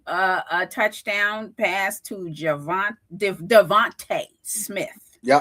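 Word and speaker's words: DeVonta: touchdown pass to Javant Devonte Smith. Yep. Devonte Smith. Yeah, Devonte Smith got a touchdown. Some people say Devont, but it's Devonte.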